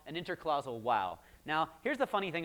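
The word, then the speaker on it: waw: It says, the interclausal wow, that's how you pronounce it, the interclausal wow before a non-verb constituent has a disjunctive role.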